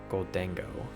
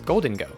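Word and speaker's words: Gholdengo: It's Golden Go. Okay. I always have been saying goldeno, so sorry about that.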